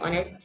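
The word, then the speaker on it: honest: Ahmad is एन ऑनेस्ट मैन, इसमें H capital, H जो है ये साइलेंट है, इसके हमने सर्कल कर दिया।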